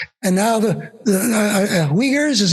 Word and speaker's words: Uyghurs: they were invaded and now the the uh uyghurs is how you pronounce the people yeah maybe genocide of some